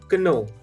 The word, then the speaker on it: know: that word is pronounced you might just say no but it's not know it's just no am i right how